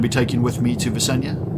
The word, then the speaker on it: Vesania: taking with me to visenya vesania visenya i wouldn't know how to what the intentional intent intended pronunciation is i think visenya sounds right to me uh but yes